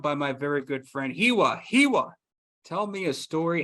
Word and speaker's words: Hiwa: I was born in Germany, and in German, W's are pronounced like V's. So it's just been this like awful curse that my parents have put upon me, where I constantly have to explain that my name isn't pronounced like it's spelled.